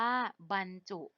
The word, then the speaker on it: บรรจุ: บ่ รอ หัน บ้าน จอุ จุ อ่างฯ ว่า บรรจุ คำ ต่อ มา นะ คะ คำ ว่า บรรทัด ค่ะ สะกด ว่า บ่ รอ หัน บ้าน ท่อ อะ